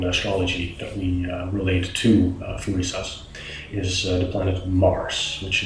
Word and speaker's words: Thurisaz: It is pronounced as Thurisaz. I will add a little description in the video itself so that you can, look it up and as to how you would pronounce it. Thurisaz is actually related to our compound of th in English, like the god Thor or thumb.